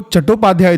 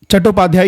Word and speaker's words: चट्टोपाध्याय: Basically क्या है कि जो चट्टोपाध्याय थे वो ऑथेंटिक बंगाली स्पेलिंग है जिसकी प्रोनंसिएशन चट्टोपाध्याय ही होगा। लेकिन चैटर्जी जो है एक ब्रिटिश सिरा एंग्लिसाइज्ड वर्शन है सेम सरनेम का।